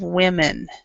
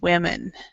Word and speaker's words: women: and then we have women so when there's the the e e in the front just try to pronounce this like an e too women women so business women that's